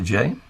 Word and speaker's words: Jay: Are we pronouncing it correctly? Is it Jay? Yeah, it's Jay, yes.